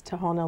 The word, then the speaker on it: Tahona: And well, and often people don't know how to pronounce my name, so I oftentimes tell them it's Tahona like, and so eventually, though, they have called me, so don't worry.